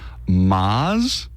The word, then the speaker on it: mascarpone: Well, here's how you should be saying it. It's mascarpone.